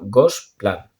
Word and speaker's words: Gosplan: Y entonces, con una organización que se llama el Gosplan, se escribe literalmente, como lo he dicho, Gosplan, ¿vale? Como Gos de perro en catalán y plan de un plan normal, ¿vale?